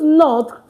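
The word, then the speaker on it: nos: For our children and for our schools it now becomes N O S. N O S is pronounced no. But before a vowel the S is pronounced as Z.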